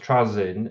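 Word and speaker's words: Trazyn: one of his favorite characters from Warhammer, pronounced Trazin, who basically spends multiple millenniums traveling around the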